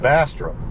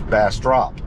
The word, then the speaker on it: Bastrop: grown up calling it Bastrop and sounds like I've been mispronouncing it all these years it's bass drop so either way like